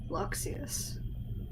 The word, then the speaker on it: Luxius: And that's why I'm saying it with a pretty solid O sound, and they're not an ah, because that's generally how those things go, is they're pronounced more with the O sound.